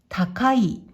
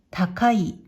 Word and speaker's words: 高い: 訓読みで、高い、高いと読みます。